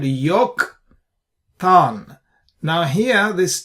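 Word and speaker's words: יָקְטָן: And we pronounce this as Yoktan, not Yaktan. You see this, we said Yoktan.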